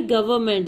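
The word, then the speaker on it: government: हुकूमत उसको रिहा नहीं कर रही थी, द गवर्नमेंट, ये क्या वर्ड होता है, गवर्नमेंट, इसमें एन साइलेंट होता है, द गवर्नमेंट वॉज not leasing him.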